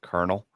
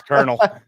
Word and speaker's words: colonel: It's pronounced Colonel. Man, shut the fuck up. I know that English is like your 15th language, but it's Colonel.